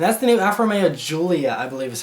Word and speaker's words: Giulia: this week, and that's the new Alfa Romeo Giulia, I believe is how it's pronounced.